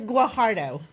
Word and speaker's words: Guajardo: No, it's Guajardo.